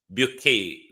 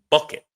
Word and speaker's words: Bucket: And we also want to speak to Hyacinth Bouquet this morning. You know, in Britain, in the natural world, it would pronounce bucket. But in the British upper echelons, it's pronounced bouquet.